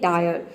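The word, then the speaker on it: dire: हैं एग्जांपल देखते हैं डायर यहां पे देखिए डी का हो जाएगा ड और आई का हो जाएगा आय आर का हो जाएगा आधा र ये पूरा हो जाएगा डायर डाय का मतलब होता है भयानक अब देखिए यहां पे ई साइलेंट है क्योंकि वर्ड के अंत में आया है नेक्स्ट एग्जांपल है एडमायब्रांड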